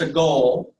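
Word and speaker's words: segol: It's pronounced sagol.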